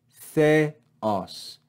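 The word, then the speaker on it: θεός: Remember, these do not make a diphthong, so we divide this word into two syllables. Theos, theos. Notice how we fall on the second syllable.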